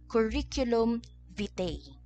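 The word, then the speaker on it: curriculum vitae: ginagamit natin sa Philippines first is curriculum vte again curriculum vte ito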